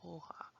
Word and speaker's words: hoja: But H is silent. Like when you look at helado, you don't say helado. Or hoja, you don't say hoja. Or hipopótamo, you don't say hippopotamo. It's helado, hoja, and hipopótamo. E.